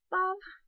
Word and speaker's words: Babhdh: So it looks like it's bobbed, but it's pronounced Bob. Because the BH becomes a V, sometimes a W, and the DH becomes a sort of Y sound.